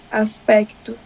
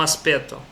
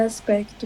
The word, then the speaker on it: aspecto: assim em diante aspecto a gente pronuncia o c mesmo aspecto aspecto ah como pronun pronuncia que isso no aspeto não ah se você